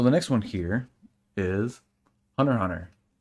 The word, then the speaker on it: Hunter x Hunter: So the next one here is Hunter x Hunter. I don't pronounce the X. I know some people do.